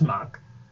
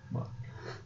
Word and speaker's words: Mach: There you go, that's Mock. Mock. Yeah. I don't know the word Mac. M-A-C-H. Mock. Jesse Mock. Underlining. Sorry. Circling. And a triple. Oh my god. Asterisk after Mock. Do not mispronounce.